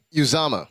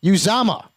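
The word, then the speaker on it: Uzomah: it you tell me this is how it's pronounced CJ use AMA use AMA use AMA yep Tyler Eifert without for the season we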